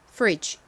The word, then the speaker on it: fridge: 이렇게가 단어의 가장 앞부분에 오면 세게 거의 된 소리처럼 쓰 소리가납니다 그리고 다음 부분은 인데요 리 소리 나는과 e 소리 나는 아를 써 주시면 됩니다 fre 그리고 끝에 g 부분은 d g e 이죠 발음해 볼게요 냉장고 fridge fridge 좋습니다 같이 적어 볼게요 소리